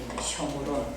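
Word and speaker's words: שומרון: 읽는 것은 쇼므론이라고 읽어요. 쇼므론. 우리는 그냥 사마리아 이러는데 읽는 발음은 히브리 발음은 쇼므론이에요. 글자 쇼므론.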